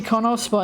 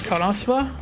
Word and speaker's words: KonoSuba: What, Konosuba? Oh no, Suba! You don't say the U in Japanese, do you? Yes! You say every vowel.